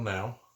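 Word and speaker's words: Nau: There's a bunch of different things, but basically it is Michael Now. I think that's how you say it, N-A-U, Michael Now, and his wife, Whitney McGraw.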